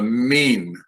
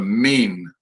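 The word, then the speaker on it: מִין: not a mine m-i-y-n the i-y is pronounced like a long e so this is a mean a mean and you can see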